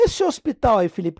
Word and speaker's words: hospital: a ver Professo Pessoal esse hinho aqui ele é chamado de letra etimológica ele não tem som nenhum e o h foi ficando só pela etimologia pela origem das palavras pela evolução da língua mas ele não é nem pronunciado tá então aqui a partir